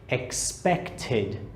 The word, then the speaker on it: expected: Expected. Notice that this becomes the id sound.